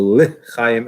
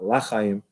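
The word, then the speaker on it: לְחַיִּים: So lechayim and not lachayim, to life and not no life.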